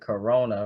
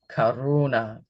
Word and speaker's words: karuna: It almost sounds like Corona, right? But no, life's a beach, right? Here it's Karuna and that is universal love.